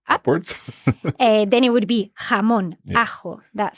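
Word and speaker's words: jamón: place from andalia up then it would be hamon a that sound so Annabel from Madrid she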